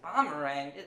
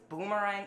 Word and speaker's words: boomerang: bomb or rang bang bommerang first of all it's pronounced Boomerang and secondly we have our